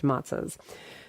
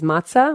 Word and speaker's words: matzah: the form of full-sized matzahs. And I know people are going to say something about my pronunciation is matzah, or I can say matzah, it's fine.